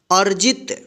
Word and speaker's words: अर्जित: इसमें रेफ की मात्रा है यहाँ पे, और यहाँ पे त है, तो इस रेफ की मात्रा का उच्चारण अ के बाद आधा र होगा, ठीक है। अर्जित।